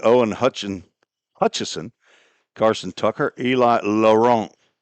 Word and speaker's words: Laurent: Top of the second inning, Owen Hutchison, Carson Tucker, Eli Laurent. That's the hockey pronunciation of Laurent as he lifts one out to center field.